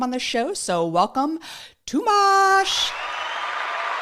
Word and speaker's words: Tomás: So, welcome Tumash. How did I do? I feel like I butchered your name.